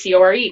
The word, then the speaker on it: Corps: It's spelled CORPS, but pronounced like CORE.